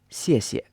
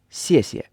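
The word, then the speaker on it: 谢谢: Thank you in Chinese is 谢谢, 谢谢. And the first character is pronounced in a fourth tone, so the pitch goes from a high pitch down to a lower pitch, and the second syllable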